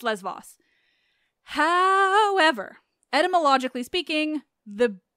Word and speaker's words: Lesvos: print didn't correct that you correct my Les Vos and you're not wrong but also you're a tiny bit wrong but I'm not I promise I'm not telling you you're wrong wrong so yes it's lesvos no question I know the island